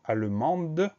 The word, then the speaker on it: allemand: s'écrit à N et on a un dé muet à la fin de allemand un dès qu'on va retrouver avec la version féminin du mot allemand donc ça nous permet